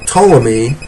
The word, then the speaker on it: Ptolemy: Mesopotamia and the general Ptolemy that's spelled with a p at the beginning a silent P General Ptolemy who was